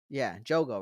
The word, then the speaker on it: Jogo: So we've seen Jogo, Jogo, right? That's how you say his name.